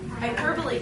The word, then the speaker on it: hyperbole: the E hyper hyper hyperbole so we highlight hyper and then we highlight the E so we remember to pronounce the e okay so we have